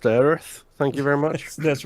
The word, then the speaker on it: Aerith: It's pronounced Aerith.